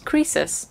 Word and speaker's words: Croesus: How do you pronounce that? Croesus.